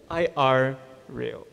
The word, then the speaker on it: irreal: I R real. Oh yeah. I R real. Wow. I real. Yeah. Sorry. Yeah. Like not surreal. Irreal.